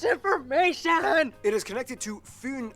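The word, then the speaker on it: Fyn: it is connected to foon island not finn island by the great belt bridge completed in 1998.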